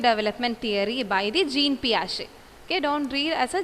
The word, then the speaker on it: Piaget: Jean Piaget. It's Piaget. Okay, Piaget. Okay, actually it's Piaget. You are right, but the pronunciation that is Piaget, which means P Shay.